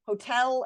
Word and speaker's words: hotel: Please notice though that we don't always stress the first syllable in the words elope, erase, hotel, and unite. Those have second syllable stress.